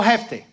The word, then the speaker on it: Jefté: Di conmigo Jefté. O Jefté, porque tiene acento en la E.